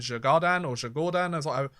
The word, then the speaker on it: Djurgården: Everybody else has played 2, except for Malmo and Djurgården, as I was told I should pronounce it by one of the comments on my recent YouTube video.